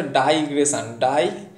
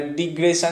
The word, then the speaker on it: digression: এটা ডাইগ্রেশন, proper উচ্চারণ হচ্ছে ডাইগ্রেশন, এখানে লিখি ডাইগ্রেশন, ডয়াকা হস্যই, তার মানে DI এর গল্প আসবে, ডাইগ্রেশন। তাহলে ডিগ্রেশন যেটা আছে এটাকে প্রথমেই কেটে দাও, ডাইগ্রেশন।